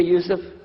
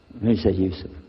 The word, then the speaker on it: Yusuf: inshallah my name is Yusuf can you say Yusuf Yusuf you're very good I wish you teach my wife she keeps mispronouncing it she calls me useless ha from